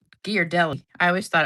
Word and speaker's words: Ghirardelli: I always thought it was Ghirardelli. But it's Ghirardelli. And I didn't realize that till I saw a commercial one time. And I was like, "Oh, I guess I've been saying it wrong all this time."